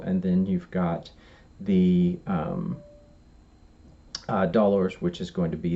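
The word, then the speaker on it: dolors: they those are called dollars now he Don's is spelled HED ons and dollars is spelled DOL ors and you can just hear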